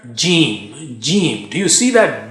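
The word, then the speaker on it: جيم: How do you say Jeem? Use the middle of the tongue and touch it to the palate or roof of the mouth. Ja, ja, ja. Don't touch the edge.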